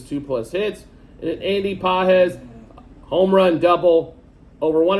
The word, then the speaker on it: Pages: and two plus hits I think I actually pronounced Andy's name correctly as I was calling him Andy Pages for the first few weeks of the Season uh so hopefully I